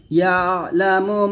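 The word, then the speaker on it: يَعْلَمُ: তারপরে ইয়ালামু মা বাইনা আইদিহিম, দেখুন ইয়া আইন জবর ইয়া, লাম জবর লা, ইয়ালা, মিম পেশ মু, ইয়ালামু, মিম আলিফ জবর মা,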